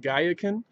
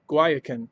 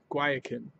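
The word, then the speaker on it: Guayacán: how to pronounce it I was pronouncing it Gaia caen but it's more of a guayacan like a guacamole guayacan this is a dumb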